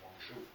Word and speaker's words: Guangzhou: Canton, and now we call it, more correctly pronounced, Guangzhou.